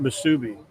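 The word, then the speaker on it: musubi: Someone was saying something about Msubi. That's how you pronounce it.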